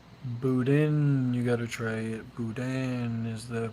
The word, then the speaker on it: boudin: Boudin is the pronunciation.